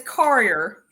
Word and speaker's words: Courier: It's Courier. Courier? Courier, yeah. There's a couple different ways to say it. Okay. Actually, my family members say it different ways, but I say Courier.